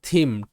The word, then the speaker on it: theme: এরপর থিম, THEME, থিম, শব্দের শেষে ই সাইলেন্ট, এটা থিম মানে বিষয় বা থিম।